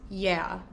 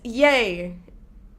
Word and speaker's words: yea: They would pronounce Y-E-A as yeah. So I'd be reading a passage from the Bible and be like, and yeah, he said, blah, blah, blah. And I'm like, it's yay. It's pronounced yay. It's a totally different word.